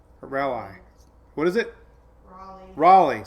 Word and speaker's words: Raleigh: year took me forever to learn how to pronounce rally a rally what is it Raleigh say I did it again oh let's see